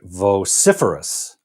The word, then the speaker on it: vociferous: vociferous okay vociferous and the accent is on the second syllable right vociferous vociferous and this is